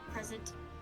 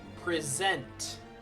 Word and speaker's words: present: Find the piece of evidence that shows the professor's cause of death and select present. Do it now. Right word, wrong pronunciation. Present.